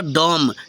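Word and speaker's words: dumb: बी इसको हो जाएगा डम ठीक है बी साइलेंट हो रहा है ना एम के तुरंत बाद अगर बी आएगा तो बी साइलेंट हो जाता है डम ठीक है जैसे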